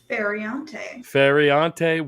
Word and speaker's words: Feriante: I don't want to mispronounce your last name. How do you say that? Feriante, welcome both the hosts of These Are Bad Movies.